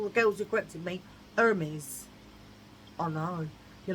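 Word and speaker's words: Hermès: right, girls, all the girls who corrected me, Hermes. I know, you're like, she picks up quick. I do. Right, so because it's this orangey colour, I think it's like very Hermes.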